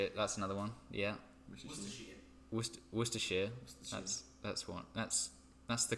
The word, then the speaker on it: Worcestershire: found something no pretty much no Australians can pronounce Worcestershire I've heard it for nowt so many times like war sauce to share water that's another one yeah Worcester Worcestershire that's one yes that's the correct this twister